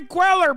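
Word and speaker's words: Cuellar: wrong with you man Chad's so weird Henry queller brother that's how you say it God damn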